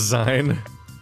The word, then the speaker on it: zine: You think they're It's pronounced Z.